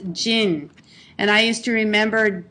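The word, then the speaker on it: 人: using this with this character and here it's pronounced Jin and I used to remember Jin is from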